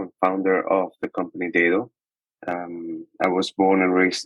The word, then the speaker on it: Daedo: Daedo or Daedo? Yes, it seems like it's a global confusion, right? It's actually pronounced Daedo.